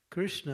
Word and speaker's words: Krishna: in the shuis that Krishna appears on the last syllable of his name so when you say Krishna you say Krish he's not there yet and when you say